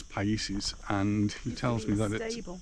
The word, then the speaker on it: Paisses: quite ancient and uh just ask the gentleman about the pronunciation uh i'm a bit deaf so i don't get these things quite right um but it is pieces and he tells me